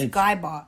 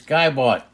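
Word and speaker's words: Ian Gibaut: I don't know if that's how you say his name. That's it. But we shouldn't put an L in there. It's Geibalt. It's Geibalt.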